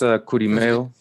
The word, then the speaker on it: Kurimeo: how you pronounce his name? Say it one more time. Yeah, it's Kurimeo.